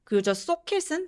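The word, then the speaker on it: socket: I was one dry socat은 소켓이 아니라 싸게 턱을 좀 벌려서 발음해 주시면 더 정확하게 소리 내실 수 있어요 쿠드로 바꿔서 얘기해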